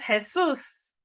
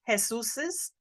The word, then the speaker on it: Jesus': This is Jesus' car. And sometimes people will try to say Jesus's. This is a little bit tricky in pronunciation. This is Jesus' car.